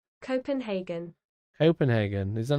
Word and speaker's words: Copenhagen: think Volvo is funny, Mikey, look up how Copenhagen is pronounced. Oscar, why am I wrong? What? I thought you were my friend. What do you mean, how do you pronounce Copenhagen? Copenhagen in Danish, right? Copenhagen.